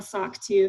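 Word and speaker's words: SOC 2: critical to get um a sock too so that's soc2 um it's hard to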